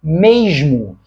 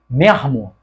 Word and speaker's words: mesmo: j j j então o carioca dentro de um falar culto carioca pronuncia Esta palavra como mesmo só que pessoas cariocas menos escolarizados pronunciam a mesma palavra como mermo não é mermo Ou seja no lugar